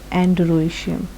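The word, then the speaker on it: androecium: Anther, A for anther, A फॉर एंड्रोशियम, CIUM। देखिए, आप वही सी ऐसी प्रोनाउंस करें कि आपको उसकी जो स्पेलिंग्स हैं वो याद, एंड्रोशियम।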